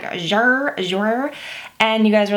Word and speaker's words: Jouer: I am wearing one of the new Jouer lipsticks, the liquid lip creams. You guys had to tell me how to pronounce that because I told y'all in the last video I was like Jouer, and you guys were like, no, it's Jouer.